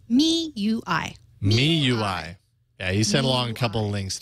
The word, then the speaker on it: MIUI: I had been mistaken Mi UI is correctly pronounced me UI MIUI yeah he sent